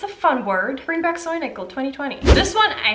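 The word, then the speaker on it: Säunickel: cute soy nickel soundingly i wrote sound nickel but i'm pretty sure it's pronounced soy nickel pretty sure this is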